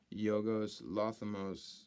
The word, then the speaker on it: Yorgos Lanthimos: They also released Yorgos Lanthimos. I believe that's how you pronounce his name.